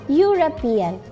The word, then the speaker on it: European: Kita lihat huruf E kan awalnya, tapi ketika dibaca bunyi apa yang terdengar? European. Bunyi Y kan? Bunyi huruf Y.